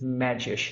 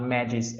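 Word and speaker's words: Medgyes: name correctly and then i learned that it's magis not maggie's as i used to to pronounce one of the reasons why he is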